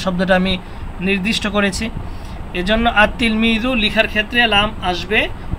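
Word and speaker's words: التلميذ: এজন্য আততিলমিজু লিখার ক্ষেত্রে লাম আসবে। উচ্চারণের ক্ষেত্রে আসবে না। উচ্চারণের ক্ষেত্রে লাম উচ্চারিত হবে না।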